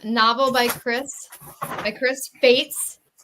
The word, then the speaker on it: Faatz: by Chris by Chris Fates rhymes with Kates um 14 Stones this